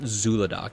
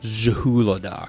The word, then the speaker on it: Zhulodok: Oh, I always get it wrong cuz it's it's not Zuladoc, it's Zahuladoc. There's an H. And I always spell it wrong. Yeah, it is not silent. Jahuladok the void gorgger.